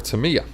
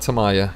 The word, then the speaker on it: Tamiya: So I asked him the correct pronunciation, and it is Tamiya. It's not Tamaya, it's Tamiya. So now we know.